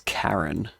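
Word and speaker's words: Charon: Sharon was first discovered in 1970. I think it's Karen now that I mention it. That's how you say it in mythology.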